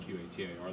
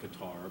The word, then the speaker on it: Qatar: And we kept that off just recently with the announcement of Qatar Airways, pronounced QA, or it's spelled QATAR, looks like Qatar, but it's pronounced Qatar Airways, to begin nonstop service from Philadelphia to Doha, the region.